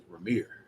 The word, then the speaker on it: Ramir: I listened to his live the other day, and I heard him pronounce it. It's Ramir. So Ramir.